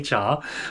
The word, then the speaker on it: chai: that all the time it's not even pronounced chai we say Char but just stuff like